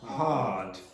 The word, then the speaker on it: hard: So you take out the R and then you make the vowel sound before the R longer. So you say hard, hard. How would an Irish person pronounce that? Hard, hard, hard. Okay? Americans might pronounce it hard with an R sound,